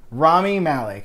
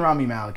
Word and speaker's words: Rami Malek: Rami Malek. I'm going to say it right this time. If that was wrong, please correct me again. It's between him and Rami Malek now.